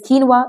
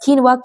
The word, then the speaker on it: quinoa: Next word is quinoa. It is a very healthy salad, protein-rich salad, which is very famous amongst people who are health conscious. So it is pronounced as quinoa, Quinoa, is quinoa, quinoa.